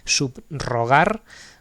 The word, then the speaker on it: subrogar: Sigue sonando como una r fuerte marcada, eh, pero eh eh es una grafía simple, no es una sola r. Subrogar, ¿vale? Pero no hay que decir una r suave, subrogar, no, no, no, no.